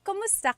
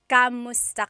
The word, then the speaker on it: kumusta: If you hear my pronunciation and then other people, when they say it, usually they say kamusta ka? Kamusta ka? So it sounds like it's spelled with a letter A, K-A-M, but technically it's spelled with a K-U-M. That's like the correct spelling of it. But the pronunciation usually is kumusta ka?